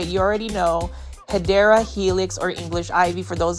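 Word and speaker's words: Hedera helix: guys off with a random shout of Hedra Helix, but it's basically me mispronouncing a um plant name. It's actually Hideera Helix.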